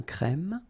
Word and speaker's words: crème: de café un crème remember accent grave e e un crème un noir un expresso